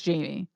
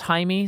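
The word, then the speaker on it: Jaime: Hae yeah I think you're right but it's Jamie yeah yeah well it's not they specifically point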